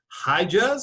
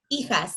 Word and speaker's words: hijas: Hi, Juz. I hope I'm pronouncing that right.